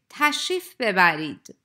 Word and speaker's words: تشریف ببرید: Please notice that in fast-spoken Persian, re is not pronounced in تشریف ببرید. And native speakers would say تشریف ببرید.